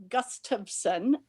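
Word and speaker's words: Gustafson: everybody your last name it is gus tubson and it's uh it's like gust of wind and i think if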